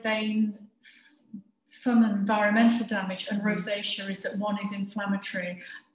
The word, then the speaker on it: rosacea: So rosacea, and it is pronounced rosacea, first manifests itself as facial redness, and it's sometimes called the curse of the Celts.